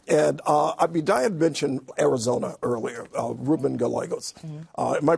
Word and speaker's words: Ruben Gallego: And Diane mentioned Arizona earlier, Ruben Gallegos. Am I pronouncing his name correctly?